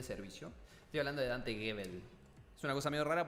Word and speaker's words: Gebel: Estoy hablando de Dante Gebel. Es una cosa medio rara porque se escribe Hebel, pero se pronuncia Gebel.